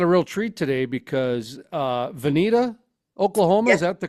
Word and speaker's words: Vinita: And we got a real treat today because Vinita, Oklahoma, is Yes, that the correct pronunciation of the town?